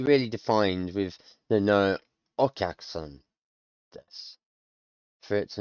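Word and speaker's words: お客さん: It's hard to elongate and truncate a syllable at the same time, I found. In English, but that's what's happening here. Okyak-san, okyak-san.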